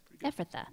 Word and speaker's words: Ephrathah: May you have standing in," I have tried to pronounce this word 15 times, Ephrathah. Yeah, Ephrathah, that's it.